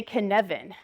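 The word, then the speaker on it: Cynefin: I learned about this is that you say Canan but do not try to pronounce this like phonetic like it is like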